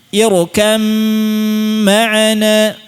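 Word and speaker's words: ارْكَبْ مَعَنَا: Ir kammaana. Dan tadi, kamil sempurna. Hilangnya sempurna, sifat ba nya hilang seluruhnya. Tidak ada bunyi ba sama sekali. Ya, langsung ke mim.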